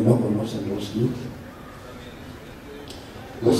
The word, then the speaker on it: Roskilde: que Copula relativamente hablando, Roskilde, se dice así, se pronuncia Roskilde.